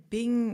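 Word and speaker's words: 病: Bing is how it's said in Chinese, original Chinese text.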